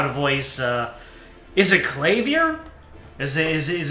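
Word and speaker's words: Klavier: Okay, I'm saying clay here like claymore, but I will I will um I will defer to zapix.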